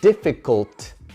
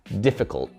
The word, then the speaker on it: difficult: Nosotros en los Estados Unidos, un montón de gente diría difficult, difficult. No es que la comemos, pero lo pronunciamos como algo que se llama el glottal stop, que la lengua llega a ese punto de la T, difficult, pero ahí para y no lo soltamos, no pronunciamos ese sonido.